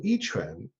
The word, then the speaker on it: Yi Quan: Well, the style that I'll be sharing there is called, as you say, Yi Quan. The Q is pronounced like a CH, so YIQUAN.